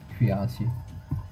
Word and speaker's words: cuirassiers: Yeah, that is how you say it. Cuirassiers.